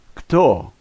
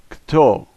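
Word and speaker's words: кто: However, we're not accustomed to saying two consonants together like this. This word is kto, kto.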